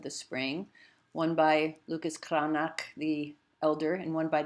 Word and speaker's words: Cranach: When we look at Lucas Cranach's, or more correctly pronounced Cranach, and we think about